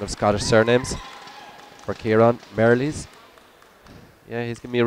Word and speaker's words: Merrilees: Alistair has just helped me out here with my pronunciation of Scottish surnames for Kieran. Merrilees.